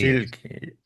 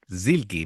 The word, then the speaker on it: Silky: Toki y compañía e se llama Silky, así que ya sabemos pronunciarlo, ya no nos vamos a meter en líos con cómo se pronuncia esto, dicho por ellas mismas, si lo dicen ellas ahí, Zilky, Zilky, pero con la Z así en plan casi casi con acento de Europa del Este.